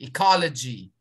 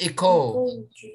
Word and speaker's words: ecology: syllables and this is how to pronounce it g ecology ecology not eco no not eco ecology ecology yes very good great thank